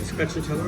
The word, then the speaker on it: stracciatella: And you're having stracciatella thing. Is that how you say it? Stracciatella or something?